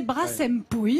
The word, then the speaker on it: Brassempouy: Brassempouille, parce que alors nous, on hésite, dans le Pays Basque en tout cas, entre Brassempouille et Brassempouille. Mais je crois que c'est Brassempouille. Alors moi, on m'a dit de prononcer Brassempouille, ouais. Donc ouais. Je fais exactement ce qu'on m'a dit.